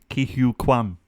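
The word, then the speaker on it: Ke Huy Quan: Ki Hu Kwan. Sounds like Kiwi.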